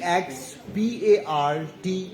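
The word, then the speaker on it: ex parte: by the way uh e ex p a r t e this term the legal term is pronounced as expart now I am the author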